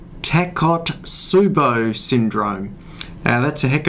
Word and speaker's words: Takotsubo: today I'm going to discuss a condition called tack hot subo syndrome and that's a heck of a mouthful it's spelt Tak Oh taco to subbu T s